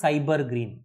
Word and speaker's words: SYBR Green: Okay, in qPCR we use a fluorescent reporter, that is your cyber green. We pronounce this as cyber green, SYBR green.